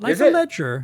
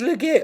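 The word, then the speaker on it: Legere: and John le Ledger that's actually how you say it believe it or not like a ledger yeah I thought it was legit I don't know why it's Ledger it's John Ledger but anyway the point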